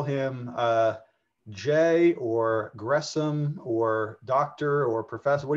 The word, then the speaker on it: Gresham: went by most um if you think about the you you want to split the s and the h it's kind of misleading but the in english and s and h together uh you normally want to pronounce that as the sh sound